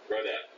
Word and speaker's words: Rodette: Rodette.